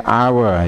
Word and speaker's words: hour: Karena ini diucapkannya itu adalah vokal our. Jadi our ya, ada I U O E hour ya. Jadi bacanya an hour.